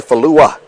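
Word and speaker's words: Fallou: FA ll o u so we've been pronouncing it falou but it's actually fluo and so drunk ganga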